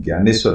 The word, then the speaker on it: ज्ञानेश्वर: ज्ञानेश्वर यह नाम है स्पेलिंग इसकी होती है दी एन ए लेकिन ज्ञानेश्वर बोला जाता है भगवान संत ज्ञानेश्वर